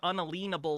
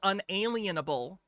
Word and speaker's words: unalienable: I don't know why sovereign citizens always think the word unalenable is a thing. It's unalienable. Unalenable.